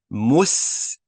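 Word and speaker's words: مستشفى: Spell it for you guys. Mim with a dhamma, mu. Sin, mus. Ta, fatha. Mustash. The sheen has a fatha, a sukun. Mustashfa. And the fa is stretched. Mustashfa, which means hospital, which means hospital.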